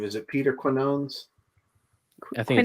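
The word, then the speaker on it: Quiñones: I don't know if I know how to pronounce his name. Is it Peter Quinones? I think Quinones? Quinones.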